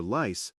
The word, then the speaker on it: lice: Now for lice, the small insects. The l sound requires your tongue to touch the top of your mouth. Right behind your front teeth. Lice.